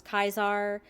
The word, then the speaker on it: Caesar: the way they pronounce Caesar uh or kaisar the members of the Legion use uh like the classical Latin pronunciation where Caesar becomes kaisar uh like the leader